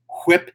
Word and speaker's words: whip: whatever they call it whip you gotta pronounce the H and then they covered